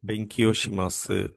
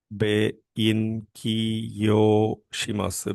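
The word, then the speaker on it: 勉強します: So, the Japanese verb for studying is benkyoshimasu. Benkyoshimasu. Be in kyo shimasu. Benkyoshimasu.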